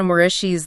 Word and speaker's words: Moreci: We're talking about the super highly anticipated third book in Jenna Moreci's The Savior series. And just quickly, for anyone wondering, her last name, it's pronounced Moreci.